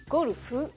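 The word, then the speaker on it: ゴルフ: tout d'abord sachez que golf se dit tout simplement en japonais golufu et s'écrit comme ceci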